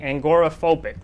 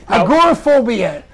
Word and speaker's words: agoraphobia: fly right okay and and you're uh and angoraphobic right yes it's fear of angera sweaters no you said it wrong oh okay you said it wrong okay you say most things wrong oh well I agoraphobia agoraphobia which is fear of the marketplace a